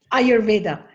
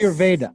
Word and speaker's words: Ayurveda: You are also a teacher, if you will, or sort of a master of if I pronounce this correctly, Ayurveda. Ayurveda. Yes. Ayurveda.